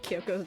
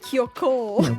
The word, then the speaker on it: Kyoko: I think that's the first time I've ever heard Celeste pronounced Kyoko's name. Yeah. Kiyoko.